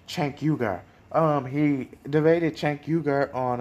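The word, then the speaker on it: Cenk Uygur: i'm forgive me enough if i say sank your way i always pronounce that incorrectly but it sank chankyuga um he debated chankyugar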